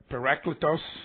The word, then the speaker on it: parakletos: body of Christ greetings are you a par paracletos as it's pronounced are are you a paracletos I'll bet